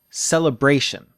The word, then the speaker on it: celebration: one messy thing stress try the word celebration celebration you see say Bray are longer louder and higher in pitch celebration an IPA we